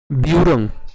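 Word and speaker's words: ব্যূঢ়ং: তাহলে উচ্চারণ কেমন হবে দৃষ্ট দৃষ্ট দৃষ্টতু পান্ডবানিক বিউরং এখানে যে জফলা রয়েছে জফলার উচ্চারণ কার মত হবে জফলার উচ্চারণ মনে রাখবেন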